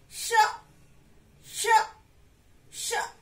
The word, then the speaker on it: ष: और जब आप ये वाला श बोलेंगे तो आपकी टंग थोड़ी और पीछे अंदर की तरफ जो ऊपर लगेगी. ओके, और इसमें थोड़ा सा जोर भी लगेगा, श, श, श.